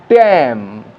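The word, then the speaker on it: damn: আবার দেখো কোনো কোনো ওয়ার্ডে ন মানে এন, এনটা উচ্চারিত হচ্ছে না, যেমন অটাম, এখানে নয়ের উচ্চারণ নেই, কলাম, এনের উচ্চারণ নেই, ড্যাম, এনের উচ্চারণ নেই, হাইম, এখানেও এনের উচ্চারণ নেই।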